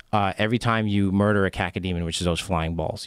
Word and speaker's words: cacodemon: Every time you murder a cacodemon, which is those flying balls, you pull out their eyeball. What is it called? A caca? A cacodemon.